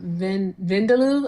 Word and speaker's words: vindaloo: I'm going to get either um I'm going to get lamb vindaloo. I think that's how you told me how to pronounce it.